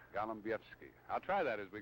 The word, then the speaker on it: Golombiewski: Bill Golombiewski. You thought I was going to mispronounce your name, didn't you?